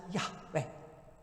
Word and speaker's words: Yahweh: the 20th century when the original yhwh was given two sort of happy syllables and spoken as yahweh and translated into the